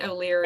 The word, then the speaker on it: O'Leary: And Oxel, did I pronounce that right? O'Leary. Yes.